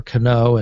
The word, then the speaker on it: Canó: leading a first baseman Robinson Kano uh 1.1 million votes uh or Canó as most Yankee fans pronounce his name uh Josh Donaldson leads